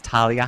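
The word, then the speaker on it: Thalia: introduction my name is Talia yes the age is silent because names can never be simple um I am a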